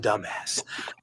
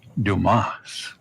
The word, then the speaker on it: Dumas: lot to dumbass and Dumbass Dumbass material all the way so am I your man Mr dumbass the name is Dumas that's pretty thickheaded but